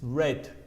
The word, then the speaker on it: read: Otra cosa, el pasado del verbo read, que es leer, se escribe igual, pero se pronuncia diferente. Es read.